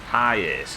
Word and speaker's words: Hiace: Hiace is how it's pronounced.